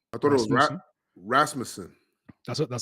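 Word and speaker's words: Rasmussen: Rasputin. I thought it was Rasmusen. That's That's how you say it, my man. You pronounce it like he's like Dominican and Rasmusen.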